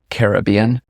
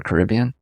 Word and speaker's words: Caribbean: where anas is yeah or if you said it's in the Caribbean or Caribbean depends how you say it what is it like